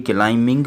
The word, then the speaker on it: climbing: अच्छा, ये क्लाइंबिंग पढ़ा जाएगा, क्लाइंबिंग नहीं पढ़ा जाएगा क्योंकि इसमें बी साइलेंट है।